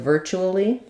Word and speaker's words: virtually: Same thing with virtually. Can be virtually, 4 syllables, or virtually, virtually. But in both cases, we stress the first syllable.